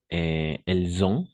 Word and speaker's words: elles ont: Alors, attention à la prononciation avec elles ont, d'accord? Dans ce cas-là, on va prononcer elles ont un ordinateur, parce que c'est une chose complètement différente à dire elles, elles sont ingénieurs, par exemple.